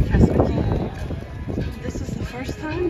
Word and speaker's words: Castaway Cay: at Cast Away key is it Cast Away key Cast Away K all right then I said it right Cast Away key this is the first